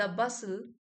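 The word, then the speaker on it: bustle: Here the बसल बसल्स T silent है यहां पे।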